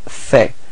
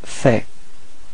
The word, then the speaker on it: fait: So il fait. Same pronunciation, so final T is not pronounced. Il fait.